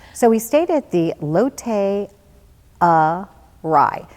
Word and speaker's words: Lotte Arai: at the lotte rai now the reason i have to say it funny like that is that it's spelled l ott and then ara I and I was like array or I or the whole week it's like wow and